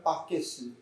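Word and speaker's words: バケツ: 버킷이라 하는 이 말을 그래서 우리 잘 듣던 일본식으로 표현하면 바게스 이렇게 됩니다. 바게스. 일본 사람들의 발음이 우리보다는 좀 달라요. 버킷, 양동이라는 말이에요. 양동이. 근데 일본 말로는 버킷이란 발음이 바게스 이렇게 나오더라고요.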